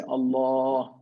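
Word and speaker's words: الله: dagger a knife so this allah is always strong it's not thin it's thick we don't say we say allah you see the mouth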